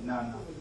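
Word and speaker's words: 七: Because 7 is pronunciation is close to 1. So that like some people prefer to say nana, but some people say just chi too. So either way works.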